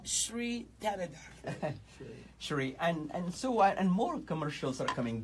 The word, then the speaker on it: Shri: And you pronounce it how? Shri Tanada. Shri.